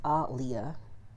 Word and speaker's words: Aaliyah: which technically her name is her name is pronounced Alia but nobody pronounces it that way um just